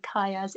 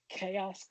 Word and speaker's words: Kayas: A lot of people can't pronounce my name. Oh, really, what do they? No, because they're like. Is it Keyas, Kayas or is it K?